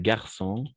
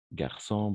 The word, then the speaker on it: garçon: ça marche alors donc on va prononcer la c cédille comme un C d'accord donc garçon garçon par exemple de la même façon